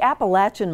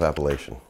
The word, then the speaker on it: Appalachian: Well, I would consider myself Appalachian. And I know that there's two different pronunciations of that term, but I grew up saying Appalachian.